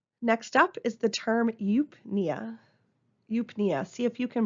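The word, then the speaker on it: eupnea: prefix is U euu it's just pronounced with the u sound which means normal there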